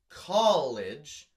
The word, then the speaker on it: college: Professor Umbridge from Harry Potter, that is not a rhyme with college, because college, the emphasis is on call.